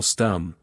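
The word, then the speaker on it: Stumm: grin why it's Colonel stum he cried he pronounced it like the first syllable in stomach dot very pleased to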